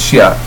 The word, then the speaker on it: Shia: You hear different pronunciations. In Arabic, it's Shia.